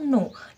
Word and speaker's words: know: में क्या साइलेंट है देखिए के लिखा है केनो पढ़ा क्या मैंने नहीं मैंने नो पढ़ा इसको हमेशा नो ही पढ़ते सो जो की है